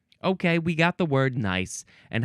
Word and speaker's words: gneiss: section where you it's it's a G word but the second letter is an N and that means you don't say the G sound at all. You don't say gice.